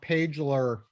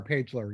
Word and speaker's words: Pagler: last name is pronounced Pagler, like Page- page in a book, L-E-R, Pagler, yeah.